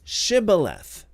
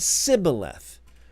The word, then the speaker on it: Shibboleth: If he said no, then they said to him, now say Shibboleth. And he said Sibboleth, for he couldn't manage to pronounce it correctly.